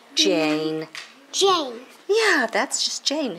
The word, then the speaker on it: Jane: this again look jan jane yeah e is silent and it just makes that vowel say a that's its name c